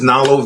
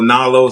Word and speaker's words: Knalo: or 4 times because it's spelled with a K. Right. It starts with a K, and I go Nalo, so they immediately write an N, and I'm like, no, it's like knowledge.